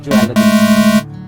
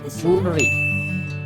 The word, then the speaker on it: jewelry: Next word is, this is not jewelry. 90% लोग, 99% लोग इसको ज्वेलरी ही बोलते हैं। ठीक है, मोस्टली हमने देखा शॉप पर भी लिखा रहता है ज्वेलरी, बट the correct pronunciation of this word is jewelry. Jewelry.